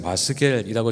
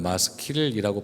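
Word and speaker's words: מַשְׂכִּיל: 오늘 이 시에 붙은 표제는 다윗의 마스겔이라고 적혀 있습니다. 이 마스겔이라고 적혀 있는데 원래는 마스킬이라고 발음해야 옳습니다.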